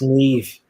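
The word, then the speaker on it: Niamh: a female name oh it's Neve so do you watch Catfish so if you watch cut the guy's name's knee that's pronounced the same way I hate Mazdas Mazda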